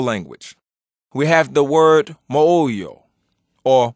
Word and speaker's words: moyo: So in the Kikongo language, we have the word moyo or moyo and it's spelled m o y o and that means belly.